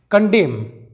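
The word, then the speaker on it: condemn: अगला एग्जांपल देखते हैं कंडेम यहां पर एम के बाद एन साइलेंट है कंडेम का मतलब होता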